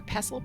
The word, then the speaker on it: pestle: or mortise and pestle I'm a pestal girl uh people in my family are pesle people I think either way is correct but I want to